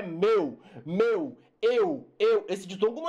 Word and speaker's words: meu: Não é mel. Ah, não, isso aí é mel. Isso não é céu, isso é mel, né? Eu comprei, então isso é mel. É mel? Não, é meu, eu.